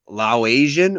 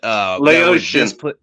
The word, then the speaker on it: Laotian: Is it Laosian or Laos people? I don't know how to say it. But Laotian.